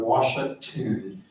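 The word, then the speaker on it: Uaxactún: a little town of Washington. So think wash and then act and tune with an emphasis on the last syllable.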